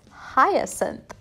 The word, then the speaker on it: hyacinth: i looked it up the pronunciation is hyacinth and to go with